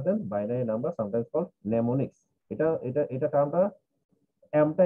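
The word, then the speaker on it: mnemonics: Of letters rather than binary number, sometimes called নেমোনিক্স। এটা এটা এটা টার্মটা এমটা এখানে উচ্চারণ হবে না, উচ্চারণ হবে নেমোনিক্স।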